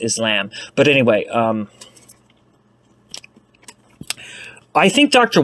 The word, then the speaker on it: Islam: Yeah, well, it's actually pronounced Islam.